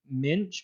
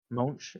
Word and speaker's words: Moench: Minch, maybe it's I think Moench. it's Monch.